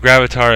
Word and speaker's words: gravatar: g-r-a-v-a-t-a-r and um it think of gravatar as like avatar okay gravatar.